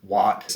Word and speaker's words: Watt: are used in here wat of course sounds like the word what w-h-a-t and mr not which